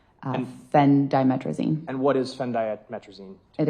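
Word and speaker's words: phendimetrazine: Um that is spelled P H E N D I M E T R A Z I N Fen Dimetraine.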